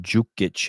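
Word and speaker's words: Đukić: yeah I've noticed that it's got a Trippy spelling it's pronounced jukich his last name but it's spelled with a d duich yeah thought we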